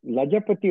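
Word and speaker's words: लाजपत: லஜபதி ராய்னு சொல்றா இல்லையா ஹிந்தியில வந்து இட்ஸ் தி சேம் ஜ பட் it's actually pronounce லஜ்பத். சோ சான்ஸ்கிரிட்ல வந்து ஹாஃப் ஜ போடலாம் பட் ஹிந்தியில போட முடியாது பட் தி ப்ரொனவுன்சேஷன் லஜ்பத்.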